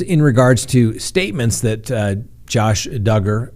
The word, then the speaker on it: Duggar: and gentlemen that's right josh duggar rhymes with hugger as you all know